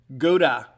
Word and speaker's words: Gouda: how they pronounce it it is of German descent or German origin but Rylan Gouda leaving